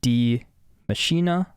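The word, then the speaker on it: Die Maschine: origins of the machine or dye machine pronounced d machina okay d machina okay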